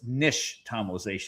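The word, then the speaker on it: nixtamalization: And the X is actually sh. So, it's nish tomalization.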